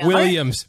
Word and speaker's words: Guilliams: It's Guilliams. Guilliams, but it's just Williams. Say G at the beginning. Yeah, it's it rhymes with same Quill. Name. Yeah. Like Quill. Guil.